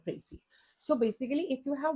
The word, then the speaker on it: précis: Okay, so as I've told you, a précis, pronounced précis, is a clear, compact, and logical summary of a passage.